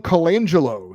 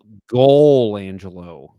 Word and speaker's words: Colangelo: I think you are mispronouncing his name. I believe it's Sam Golangelo.